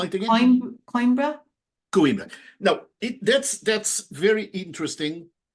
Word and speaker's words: Coimbra: the university library at, I'm not going to pronounce it, Coimbra. I don't speak Portuguese, sorry. Spell it again. Coimbra?